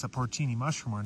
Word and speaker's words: porcini: they're actually also called porcini. I guess I was saying it wrong. The correct way to say it is porcini.